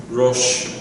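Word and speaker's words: ראש: So here's the Reish. O, Shin. Aleph is silent. Rosh.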